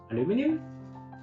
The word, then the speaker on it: aluminium: you'll feel highly recyclable uh aluminum aluminium just try to pronounce them correctly both in american english and british english i think this color